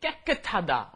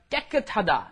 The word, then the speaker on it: 깨끗하다: 깨끗하다. Okay, you got to get both of those 쌍기역 in there. Got to 깨끗하다.